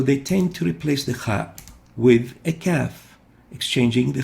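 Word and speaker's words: خاء: Kha, not Ka.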